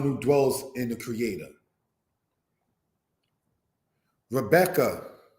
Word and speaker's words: Rebecca: Rebecca, said as Ribqua.